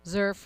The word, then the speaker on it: XERF: XERF rhymes with Smurf. Or XERF or surf, right? But not turf.